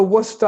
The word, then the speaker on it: Worcester: The first issue I should raise is that you need to know how to pronounce the name of the city. It's Worcester. You've got to get the Worcester accent just right.